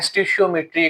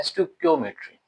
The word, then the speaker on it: stoichiometry: कुछ लोग इसको पढ़ते हैं स्टिशियोमेट्री, कुछ पढ़ते हैं स्टाइकोमेट्री। असल में यह वर्ड क्या है? स्टकियोमेट्री।